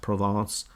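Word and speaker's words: Provence: at an area like provance it's it's actually written like a province pronounced provance um and others still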